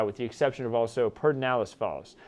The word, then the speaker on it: Pedernales Falls: the exception of also perdinalis falls i know it looks like pedernales falls but it's pronounced perdinalis falls just east of johnson